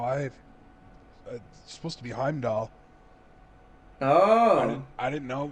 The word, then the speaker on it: Heimdall: oh that's not how I supposed to be Heimdall oh I didn't know it's dad - L